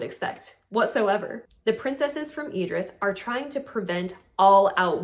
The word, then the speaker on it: Idris: I was pronouncing it Idris, by the way, but I think it's pronounced Idris.